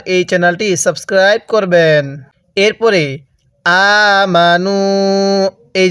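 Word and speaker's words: آمَنُوا: কি জন্য লেখা হয় হ্যাঁ এই আলিফটা লেখার সময় আসবে পড়ার সময় আসবে না কারণ আরবিতে যখন কোন একটা বহুবচন বোঝানো হয় ওই শব্দ শেষে এরকম একটা আলিফ লেখা হয় তাহলে আমানু এরপরে ফায়ালামুনা আইনটা চাপ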